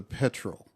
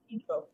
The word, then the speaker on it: petrel: Am I saying it right? The bird, the stormy petrel, I think it is. It's one of the most unique Stormy ones. Pedro. Petrel. Pedro. Okay.